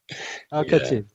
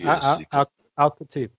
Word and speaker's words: Al-Khatib: Al-Khatib. It's not difficult. It's English. There's like an A sound at the start of your last name, then. Like Al-Khatib.